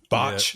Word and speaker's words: Bach: Is that how you say his name, Nick? Botch. Yeah, King.